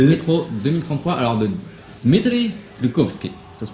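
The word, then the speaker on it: Глуховский: Métro de Métro 2033, alors de Dmitri Glukhovsky, ça se prononce comme ça. Je suis russe. Bravo. Glukhovsky. Glukhovsky. Glukhovsky. C'est comme glucose, mais sauf que tu dis koski là.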